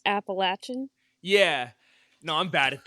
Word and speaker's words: Appalachian: bunch of blue people it's pronounced appalachin yeah no I'm bad